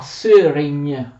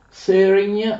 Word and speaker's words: Szörény: A Söregn, così si pronuncia. Söregn si trova qui in Ungheria, vicino alla città di Pest.